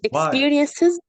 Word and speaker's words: experiences: Experiences. You have to pronounce the S because it is a plural.